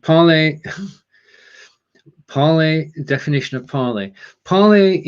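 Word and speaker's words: Parler: Parley was meant to be pronounced the French way, but it became the way you see it. Oh, thank you, Peter. So it's parlor.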